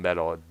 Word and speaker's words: Meddle: The album Metal, which by the way Right. is spelled excuse me, MEDDLE.